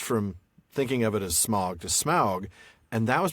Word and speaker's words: Smaug: was interested in um even if he was looking to Gothic for the inspiration, it would still be pronounced smog. So it is smog, not smog. But but it's because of the Germanic origin, not for the reasons given in appendix E.